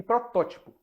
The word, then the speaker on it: protótipo: Então, temos ínterim e protótipo, em que a antepenúltima sílaba é a tônica.